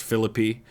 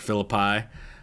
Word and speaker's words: Philippi: Takes place in West Virginia and it is pronounced Philippi, not Philippi.